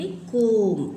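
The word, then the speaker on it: comb: तो name the pictures and circle the silent words. तो देखिए, इनको बोलते कोम, कंघी करती है ना मम्मी, वॉच, इनको देख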